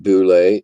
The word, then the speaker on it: Bullette: Tim, you want to pronounce it boule?